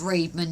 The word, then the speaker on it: Redman: okay spelt Reedman pronounced spelt Redman pronounced Reedman yeah as soon as